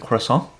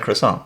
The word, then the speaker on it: croissant: You have to say like in a French accent kind of crescent.